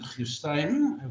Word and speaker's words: Christijn: Well, he actually pronounced it Christijn, which is actually Belgium, Flemish.